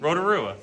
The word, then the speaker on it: Rotorua: I can say it I can say it Rotorua yeah Paris Russia because is it because